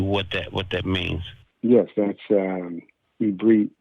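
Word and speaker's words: עברית: Yes, that's Ibrit, as it's pronounced in its original vernacular. Ibrit is how you say Hebrew, and it's also Aramaic.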